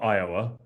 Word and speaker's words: Iowa: which I I love Iowa it's it's it's got four letters but three syllables how cool is that